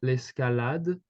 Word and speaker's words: l'escalade: So Felix, you kind of told it in a English accent where the A is kind of pronounced as A. In English, if you look maybe at the pronunciation of the French alphabet, you would see that the letter A makes the sound A. Okay, so basically, you would say l'escalade.